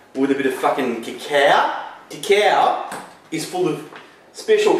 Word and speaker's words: cacao: but it sounds classier if you call it cacao, right?